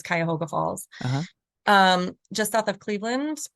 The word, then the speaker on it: Cuyahoga Falls: We played at this place called the Jinx Building in Cuyahoga Falls. I hope that's how you say it. I think it's Cuyahoga Falls.